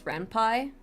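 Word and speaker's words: Ren'Py: is rampy rampai um technically I think the um appropriate pronunciation is rampai because it comes from pyson like the coding language python so technically it's rampai but I'm Spanish and I will call it rampy Uh then we'll be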